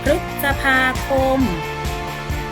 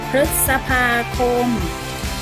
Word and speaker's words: พฤษภาคม: ออก เสียง หรือ อยู่ นะ คะ อัน แรก พฤษภาคม พฤษภาคม หมาย ถึง ชื่อ เดือน ลำดับ ที่ 5 ของ